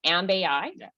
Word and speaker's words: Amb.ai: tell us about so your company is called ambei do i say it right yeah and ai